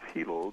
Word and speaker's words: Hilo: Well, you mentioned Hawaii, and you mentioned the city where I live, which is Hilo. The I's are pronounced like E's in Hawaiian language.